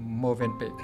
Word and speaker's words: Mövenpick: "Mövenpick"; tôi vừa mới học được rằng phải phát âm như vậy mới đúng nhỉ?